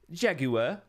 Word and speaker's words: jaguar: Vest of the Empress Jaguar. Or as the Brits say, Jaguar.